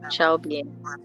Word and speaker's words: Chalbien: I just informed Calben because I told her before time, but she said she had network issues. So, My name is pronounced Chalbien. Chalbien.